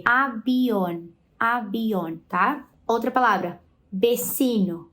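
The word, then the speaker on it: avión: mas isso é incomum é mais comum vocês escutarem pessoas pronunciando com o som de B abion abion tá outra palavra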